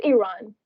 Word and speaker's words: Iran: It's Iran. It's Iran. You didn't pronounce it Oh, right.